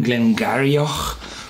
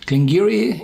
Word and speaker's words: Glen Garioch: at the Siri game Giri yes it's written glengarry oh but it's pronounced in gallah clangy ree can giri in the East or the Highlands as i